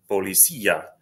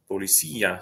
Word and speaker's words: policía: So the first word is policía, policía. So these two are, there's an I and an A together right here, but they're separate syllables because that I has an accent mark on it.